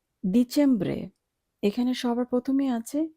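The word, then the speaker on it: dicembre: ডিচেম্ব্রে, এখানে সবার প্রথমে আছে ডি, আর ডি এর উচ্চারণ ইতালিয়ান ভাষায় দ এর মতো হয়। কাজেই আমরা এখানে ড উচ্চারণ করব না, আমরা উচ্চারণ করব দ, ডিচেম্ব্রে।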